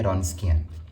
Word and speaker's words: Wronskian: अब इसमें जो डब्लू है वो साइलेंट है। तो आपने इसको प्रोनाउंस करना है रोंस्कियन।